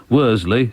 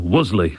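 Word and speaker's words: Worsley: 16 old cuff Lane Worley it's probably pronounced something like Wiley locally but Worley w o r s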